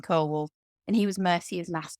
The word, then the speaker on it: Ceolwulf: So I refer to it as both, but yes, it's about Ceolwulf, which is not the right way to say it. I think you should call him Ceolwulf, but I've got used to calling him Ceolwulf, and he was Mercia's last king.